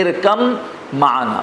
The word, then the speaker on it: ارکب معنا: ارکب معنا، تو سوار ہو جا ہمارے ساتھ، لیکن اس کو ہم پڑھتے ہیں ارکم معنا. با کا بالکل تلفظ نہیں ہوتا. کیوں؟ اس لیے کہ با پر جزم ہے اور میم کے اوپر تشدید ہے.